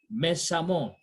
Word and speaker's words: méchamment: Note this word, this I've said, that the EWMENT or AWMENT are pronounced the same way. So we say amant, amant. So we say violent, violemment. Méchant, méchamment.